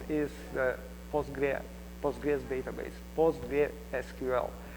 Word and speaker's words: PostgreSQL: the postra POG database postra SQL if it is full name I'm going to use postgress just because it is easier to to pronounce really um by the way you can hear POG SQL which is acceptable name as well so why H it